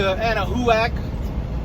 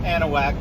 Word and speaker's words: Anahuac: Service Road I-10 West in Texas close to Anna whoack I know it's pronounced Anahuac but I like pronouncing it Anna whoack um and it's spotless the bathrooms are clean